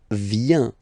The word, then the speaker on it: vient: Then il, elle vient. Final T not pronounced. Il, elle vient.